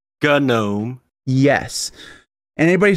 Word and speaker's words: GNOME: into my comment sections telling me how to pronounce gnome I will ban you uh it's gnome yes and anybody says oh it's not go